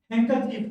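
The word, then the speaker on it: handkerchief: Silent, silent D है ना। देखो यहाँ पे जो डी है वो क्या रहेगा, साइलेंट रहेगा, ठीक है। देखो इसको क्या बोलते हैं, हैंकरचीफ, क्या बोलते हैं, हैंकरचीफ।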